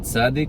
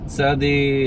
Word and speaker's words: tsádi: Tsádi is it's like the combination of the English letters T as in tango and S as in Sierra. Ts. So it's weird for us in English because we need two letters, but they only need one letter.